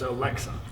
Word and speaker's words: Aleska: Did I get it right? It's Alexa.